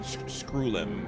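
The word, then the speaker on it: Screwllum: Yeah, that's how you say his name, Screwlum, but I call him Scrotum, the nickname, because it sounded so close.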